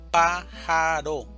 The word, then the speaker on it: pájaro: Pájaro, división silábica, pájaro, sílaba tónica, pa, pájaro.